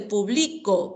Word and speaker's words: publico: O en el caso de publico, publico está en la penúltima.